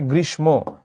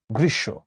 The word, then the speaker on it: গ্রীষ্ম: আরেক পাশে থাকে হচ্ছে গ্রীশব এটাকে অনেকে বলে গ্রীষ্ম গ্রীষ্ম নয় এটার উচ্চারণ গ্রীশব এটার উচ্চারণ গ্রীশব।